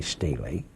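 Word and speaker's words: stele: R it's SLE e you could pronounce it either way the inventory Stella was uh more was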